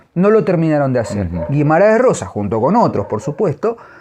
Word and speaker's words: Guimarães Rosa: No, Joao Joao Guimarães Rosa. Joao Guimarães Rosa. La R es casi Rosa, casi una jodon, una sí, jodon griega. Exactamente.